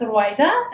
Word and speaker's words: Rawieda: My name is Rawieda, pronounced Rouyda in Arabic.